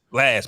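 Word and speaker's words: Blxst: That's how you No, pronounce it, right? Blast. Blast.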